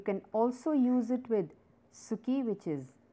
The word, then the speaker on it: 好き: Now, you can also use it with suki, which is like, and the pronunciation is ski.